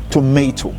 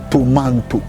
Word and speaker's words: tomato: And one point that is so clear is tomato, which is wrongly sometimes pronounced as tomato.